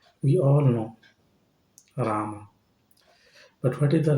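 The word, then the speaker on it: राम: Like We all know Rama. But what is the right pronunciation? Ram. It is not Rama.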